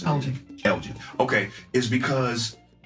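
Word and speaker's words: Alge: The reason why I brought up Chris Lord, or is that how you pronounce it? Elgin.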